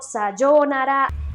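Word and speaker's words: さようなら: y traer una cosa lo mismo que con la palabra arigato que con las traducciones se pierde la rayita se pierde el agua y pues por eso terminan diciendo sayonara el primer y el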